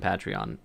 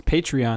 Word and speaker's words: Patreon: bunch of money from Patreon. It's Patreon, not Patreon. That's why no one's gonna donate if we don't pronounce it right.